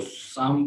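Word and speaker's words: psalm: इसी तरह से इसको साम पढ़ा जाता है, यानी पी भी साकिन रहेगी, एल भी साकिन रहेगी।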